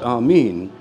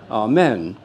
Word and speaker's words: Amen: was translated into Latin there isn't a long e in Latin so it was spelled a m n and people pron started pronouncing it amen now this has a